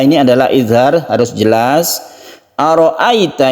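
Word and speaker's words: أرأيت: Ara'aita ini harus lemas karena di sini ada sifat lain. Disebut mad lain itu karena lemas ya, lemas. Jadi sukun ya itu sebelumnya ada fathah itu kita lemaskan, jangan kaku membacanya dan menuju huruf i.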